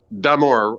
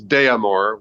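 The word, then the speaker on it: d'Amour: Damour. And it's I usually hear it as deamore, which there's d apostrophe, which means it's damor regard.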